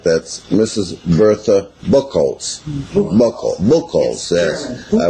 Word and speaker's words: Buchholz: bill calls was warned in Germany on December 24th 1878